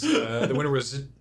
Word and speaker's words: Tchia: The winner was Chia. Is that how you pronounce Chia, it? yeah, TCHIA.